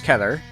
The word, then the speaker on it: Keter: First off, it's a Keter class, and yes, that's how you pronounce Keter.